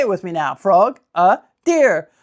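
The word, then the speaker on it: Frogadier: But guys, this is the proper way to pronounce this Pokemon. Frog a deer. Frog a deer.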